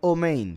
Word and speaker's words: amén: Los Ashkenazi pronuncian Omein, por si algo, Omein. porque cambian algunas vocales de A a O. Y ese es el caso con la palabra amén. Ellos dicen omen.